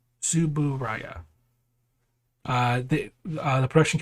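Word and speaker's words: Tsuburaya: have you forgotten how to say the name subaraya suburaya uh the uh the production company that did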